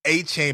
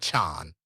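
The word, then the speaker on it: Achane: by the way achan y'all a chain pisses him off he doesn't want to be called a chain even though that's how it's spelled it's Devin aan all right um but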